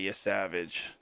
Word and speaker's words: Yesavage: I always want to say Yesavage, but every time I watch them play, they say Yesavage. So I'm like, I guess that's how you say his name.